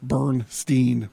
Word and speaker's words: Berenstain: Steinman to pronounce Stine so I asked my grandmother if it was pronounced bear baron Stein or Berenstein she said it was pronounced Bernstein bears different than mr.